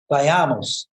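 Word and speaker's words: Bailamos: dance in Spanish and by Amos and I got the pronunciation it's actually by Amos but as I put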